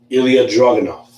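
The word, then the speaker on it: Ilja Dragunov: Walter, the leader of Imperium, will defend his NXT UK championship against Ilya Dragunov. I said it right this time. Yes. I pronounced it right this time.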